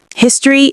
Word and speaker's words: history: History is uncountable. It's a description or study of facts or real events that happened in the past. Notice that we either don't pronounce the O in history or we pronounce it as awah.